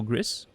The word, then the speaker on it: Gris: It's pronounced the Spanish way, not the French way. Oh, yeah? So, Gris?